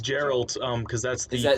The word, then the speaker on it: Geralt: Geralt. It's like... It's Geralt, because that's the Is that Polish pronunciation.